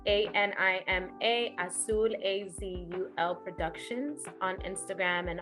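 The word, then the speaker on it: Azul: asude Productions blue spirit and also it's a-n-i-m-a asul a-z-u-l Productions on Instagram and on on the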